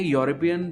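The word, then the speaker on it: European: कि एक वॉवल है, बट जब आप इसको प्रोनाउंस करेंगे तो जो हमें साउंड आ रही है वो एक कॉन्सोनेंट की आती है।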